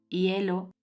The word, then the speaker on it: hielo: gatas gafas y gusanos h esta letra es muda es decir no se pronuncia tal y como vemos en estos ejemplos hielo huevo y helado j de